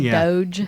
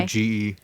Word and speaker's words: Doge: dog, but said Doge. Yeah, Okay. Doge.